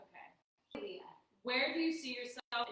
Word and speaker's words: Hialeah: Yeah. Hialeah. Not high. There's no way. H-I-A. Hialeah. Okay. Hialeah. Okay. Hialeah.